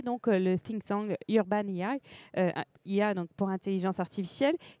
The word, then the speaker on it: AI: Vous êtes le fondateur de l'entreprise Urban IA, AI, c'est comme ça qu'on le prononce, intelligence artificielle.